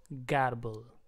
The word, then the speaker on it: garble: example तो इस word को पढ़ते हैं हम गबल गबल गबल का इंग्लिश में मीनिंग है टू